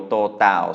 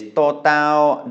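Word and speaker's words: ตด: is that divot in the top of your totao so that you can tell it apart from dordek. The next word is actually just missing that vowel. It is totao dordek, which means it is pronounced tot, which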